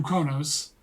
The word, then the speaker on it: Qo'noS: return his corpse to Kronos, right? Kronos. Kronos. I thought isn't let you pronounce it a certain way. People with always the- pronounce it Kronos, Kronos. but it's spelled Qonos.